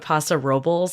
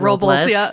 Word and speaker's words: Paso Robles: I just did a trip to San Luis Obispo and Paso Robles. I've learned that's how you pronounce it. Not Robles, which is what I and everyone else calls it.